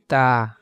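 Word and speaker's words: ت: বা বা এরপরে যে হরফটি আমরা দেখতে পাচ্ছি সেটি হল তা এই হরফকে তা বলা হয়। এ হরফের উচ্চারণ হবে জিহ্বার আগা সামনের দাঁতের দিকে লাগাইয়া এ উচ্চারণ করতে হবে।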